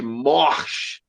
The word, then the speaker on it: Morsch: Aliás, Fred, eu estou falando aqui, estou caprichando para falar as últimas sílabas do teu nome, Fred Morsch, porque a Lala me cobra pra cacete.